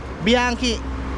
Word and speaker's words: Bianchi: Tama si sir at tag galing Italy ah bianchi bianchi bianchi O ayan mga da yung sukat